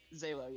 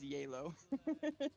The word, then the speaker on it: Zalo: Yeah, Zalo. Yeah, that's right. Zalo. Okay. But all the Vietnamese pronounce it as Yalo.